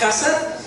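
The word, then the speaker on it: חסד: Y misericordia viene de la palabra hebrea que se pronuncia hasad, y quiere decir amor.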